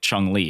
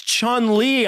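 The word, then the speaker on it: Chun-Li: name chung lee right say one more time chung lee spell it is it chun it is there's no g oh there's not that's pretty obscure matt no he's right it is okay it is chun li after all it is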